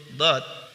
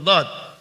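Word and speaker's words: ض: Kita lanjutkan ke huruf berikutnya, yaitu huruf dad. Huruf dad diucapkan dengan menyentuhkan sisi lidah dengan gigi geraham atas.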